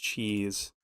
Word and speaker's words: Chiz: Cheese. It's CHIZ. Her name is pronounced Cheese.